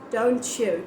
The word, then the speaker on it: don't you: words are together then american people tend to pronounce it as like cha sound so like don't you agree don't chew don't chew it's not don't you wow what an accent so it's not don't you it's don't you don't chew it's c-h-e-w